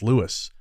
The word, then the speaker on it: Lewes: I did not realize at all that it was Lewes. I heard you pronounce it like that, and I thought, oh,